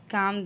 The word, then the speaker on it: calm: You just calm down. काम में L silent है।